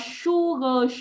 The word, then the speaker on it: sugar: Cái từ này đọc là sugar, sờ nặng nhá.